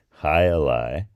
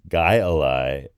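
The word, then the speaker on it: jai alai: and so he nicknamed the sport High Ali which is also can be pronounced guy Ali I'm not sure which uh which part dialect of Basque pronounce it one way or the other but I noticed that there are a couple of different pronunciations online for it but highi seems to be more common and hii means something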